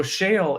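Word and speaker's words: Sheol: saying the Hebrew word was yeah no so Shale is a Hebrew word but the way you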